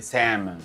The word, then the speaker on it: salmon: pero se dice wday se escribe salmón pero se dice salmon sin la l se escribe Connecticut pero